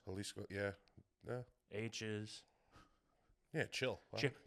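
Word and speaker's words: Jalisco: Pronounce them like H's. And they pronounce H's like J's, right? Everything sounds like an H over there. J's, G's. Halisco.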